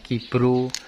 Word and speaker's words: GibGro: Sebenarnya itu namanya gibro ya, tapi kalau di daerah saya bacanya gibro. Nah seperti ya teman-teman. Jadi jangan salah paham ya, Gibgrow, tapi kalau di daerah saya namanya Gibru. Oke kawan-kawan, dan ini kalau